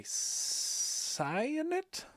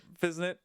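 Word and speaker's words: Physint: an early glimpse of, I'm going to go ahead and say Cyanit? Cyanit? Any suggestions on how to pronounce that?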